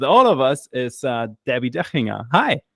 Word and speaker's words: Debbi Dachinger: uh Debbie dinga hi thank you for saying my name so well and T to the second degree this is D to the second degree it is a pleasure to be here with you well yeah it's a German name so uh yeah I I really have to say it like that so you're gonna be